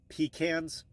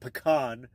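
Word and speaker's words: pecan: peaches but Georgia yeah Georgia does harvest uh peans it's how it's pronounced by the way not pan do we say Nevada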